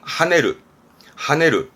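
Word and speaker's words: 跳ねる: 이거는 하네르.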